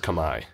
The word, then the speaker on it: Khmer: was called Kamai yeah Cambodian called Kamai yeah like K like Comm like khm is pronounced Kamai okay um so then